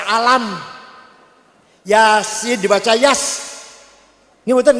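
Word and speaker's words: الم: baca Quran dengan benar Alif Lam Mim dibaca alam Yasin dibaca Yas ng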